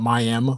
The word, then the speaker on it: Miami: in a place called miam spelled like Miami but pronounced miam Miami Oklahoma and uh